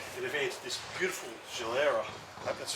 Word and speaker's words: Gilera: Hey everyone, I have Gulia here from Tanks and Tailpipes and they've entered this beautiful Gilera. I hope that's pronounced. Gilera, yeah, you got Gilera.